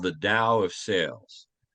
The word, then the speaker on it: Tao: book is called the Dow of sales it's spelled Tao it's pronounced Dao not to Dao sales